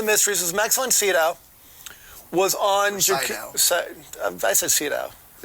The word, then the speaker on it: Sydow: Max von Sydow. Did it just say Sydow? Sydow. S-E-E, dough.